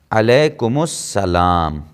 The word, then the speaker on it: علیکم السلام: ڈالیں گے علیکم السلام، یہ الف لام سائلنٹ ہو جائے گا۔ اب یہ اس سین سے ملے گا چونکہ سین پہ تشدید ہے، علیکم السلام، یہ اس کا صحیح تلفظ ہوگا، علیکم السلام۔ کیا ہوگا؟